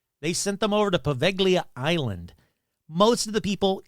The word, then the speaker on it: Poveglia: Pronunciation. Poveglia. Poveglia. Poveglia. Poveglia. There we go. Poveglia Island.